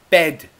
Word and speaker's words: bed: bad please very easy bed is where I sleep e bed mouth is wide e bed bad the